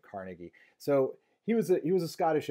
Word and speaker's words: Carnegie: And this steel is going to be mass produced in Carnegie steel mills in Pittsburgh, Pennsylvania, which is why Pittsburgh's professional football team is named the way that it is.